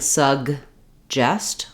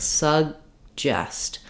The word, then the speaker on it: suggest: this first G out I'm not saying sug justest with a big break in between what happens is that this first G sound gets uh is unreleased so it sounds like sugest but I'm still lifting my tongue for the G sound making that air stop making this vowel short um I don't want